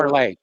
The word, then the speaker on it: Parler: Parlay. It's pronounced parlay.